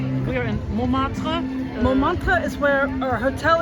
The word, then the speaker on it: Montmartre: We are in Montmartre.